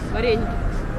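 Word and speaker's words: вареники: Can you pronounce it because you do it better? Vareniki. Varenika.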